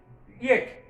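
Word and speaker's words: yacht: তাহলে এরপর ওয়াই দিয়ে আরেকটি কি হতে পারে, ইয়েট।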